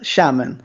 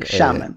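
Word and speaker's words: Xiamen: will criticize my Chinese pronunciation but yeah it's pronounced shamon like shamon could you speak say yeah yeah like yeah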